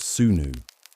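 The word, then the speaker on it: swnw: Well, you'd likely seek out a physician known as a Esau, pronounced sunnu.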